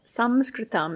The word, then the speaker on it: Sanskritam: The Sanskritam, the Sanskrit alphabet, Sanskritam is how you say Sanskrit in Sanskrit, means literally to put together the subtle form.